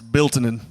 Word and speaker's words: Biltonen: How do you pronounce? It's Bilinin.